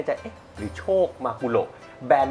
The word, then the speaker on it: มากุโระ: คน อ่าน จริง ๆ มัน อ่าน ได้ 2 แบบ แหละ เพราะ มัน เป็น ชื่อ ปลา ของ ญี่ปุ่น ฮะ นะ แต่ ว่า ของ เรา เนี่ย อ่าน ว่า มากูโระ มากุโระ ใน บริษัท ใช่ แต่ ถ้า อ่าน มากุโร ก็ ไม่ ผิด ไม่ ไม่ มี หัก